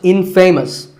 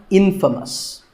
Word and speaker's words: infamous: But it's not pronounced infamous, it's pronounced infamous.